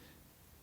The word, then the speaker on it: petit: کې ونیسئ چې د E څخه مخکې تلفظونه تلفظ کیږي کوم چې په petit petit کې نه وي دا یو مذکر کلمه